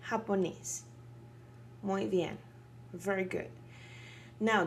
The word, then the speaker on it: japonés: Remember the J-A? Ha. See? Japonés.